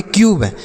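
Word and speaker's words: cube: यहां पर बी का उच्चारण नहीं होगा। किसी भी शब्द के लास्ट में अगर इ होता है तो उसका उच्चारण नहीं किया जाता है। ठीक है? तो इसे हम पढ़ेंगे क्यूब।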